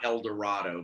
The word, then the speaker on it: El Dorado: My father moved a small town called El Dorado, not El Dorado, but El Dorado, okay.